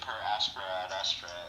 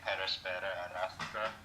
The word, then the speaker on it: per aspera ad astra: I mean, I think if you pronounce it per aspera ad astra, I think that's fine.